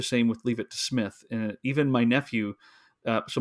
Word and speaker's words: Psmith: Wodehouse, Leave It to Smith. The P is silent.